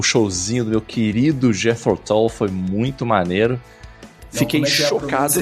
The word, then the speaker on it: Jethro Tull: Não vou dizer que eu não aproveitei, não, porque o showzinho do meu querido Jethro Tull foi muito maneiro. Fiquei chocado. Repete. Como é que é a pronúncia?